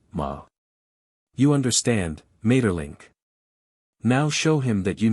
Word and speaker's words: Maeterlinck: him his name is Mater link crawl pronounced the first syllable German fashion Ma you understand Mater link now show him that